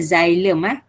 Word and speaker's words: xylem: Okey, sebutannya adalah xylem macam huruf Z lah, kita sebut dia xy. Sebut dia macam tu.